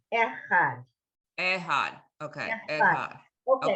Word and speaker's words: Echad: Yisrael Adonai Eloheinu Adonai Elhad. No, last word. No lamed. El Had. Had. You're putting an extra letter in. El There's no L sound. Echad.